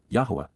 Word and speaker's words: Yahweh: behalf of La during the approach of Yahweh Yahweh the proper pronunciation of the name of eloah God as